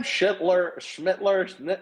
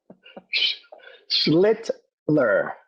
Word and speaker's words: Schlittler: If Cam Schmittler, how do you say his name? Schlittler.